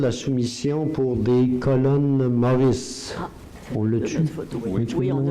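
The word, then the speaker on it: Morris: Des colonnes Maurice, d'abord, ça s'écrit M-O-R-R-I-S, ça c'est du nom probablement de la personne qui a comme lancé ces choses-là.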